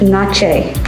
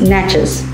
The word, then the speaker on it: Natchez: do you pronounce nachos nachos the natchez indians pronounce it nache not j okay okay like spanish like spanish and then the town is pronounced natchez what is the significance of the mount okay